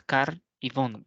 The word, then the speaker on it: carbón: requiera otro ejemplo eh carbón tiene dos sílabas car y Bon verdad Entonces termina en N eh Por lo tanto se va a tildar otra podría ser